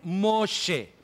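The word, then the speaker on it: משה: lo saqué del río ahora en realidad es mosé ahora tenemos que volver a esto más tarde pero este es el nombre de Moisés y así se escribe en hebreo moshe es la palabra moshe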